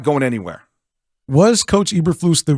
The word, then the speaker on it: Eberflus: Eberflus, like they said yesterday on the broadcast.